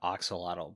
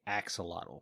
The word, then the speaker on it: axolotl: say excellent i heard some people call it oxolotl but every time i see it like the pronunciation written they say axolotl so i'm calling the axolotl it's hard to